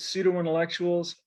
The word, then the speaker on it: pseudo-intellectuals: pseudo-intellectuals all right now people pen and poetry those three words all alliterate but pseudo-intellectuals does not okay now pseudo-intellectuals showed up